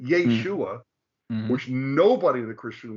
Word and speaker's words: Yeshua: local area in Hebrew in Hebrew as as we just saw it's Yeshua Yeshua not yahshua but Yeshua which nobody in the